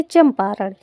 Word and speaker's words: चंपारण: चंपारण अब यहां देखिए चंपारण इसमें हमारा यह जो मतलब बिंदी है इसको हम आ अन की जो मात्रा है इसको हम आधा मा के रूप में उच्चारण करते हैं चंपारण अब हमारा यह